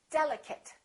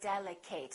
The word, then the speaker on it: delicate: nouns and some adjectives delicate don't say delicate that's a very common mistake chocolate a lot of